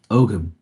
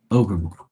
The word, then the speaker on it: Ogham: Let's see how you say it. Ogham, Ogham, Ogham, Ogham, Ogham. That's how you say it. Ogham, Ogham. So that's an Ogham. So I was totally wrong. It's pronounced Ogham.